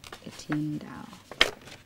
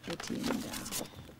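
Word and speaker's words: Étienne Daho: How do you pronounce his name again? Etienne Daho. Etienne Daho. Etienne Daho.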